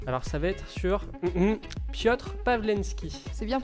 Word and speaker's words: Piotr Pavlenski: Alors ça va être sur Piotr Pawlenski. C'est bien prononcé.